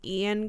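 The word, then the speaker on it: Eoin: Fowl by I think his name is pronounced Ian kulur but it's spelled e o i n have you ever heard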